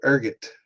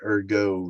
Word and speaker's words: ergot: So, urgot is how we're going to pronounce it. I always thought it was like erggo, like a French pronunciation.